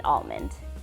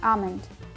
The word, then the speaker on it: almond: take your vitamins almond i pronounce the l in almond almond almond modern modern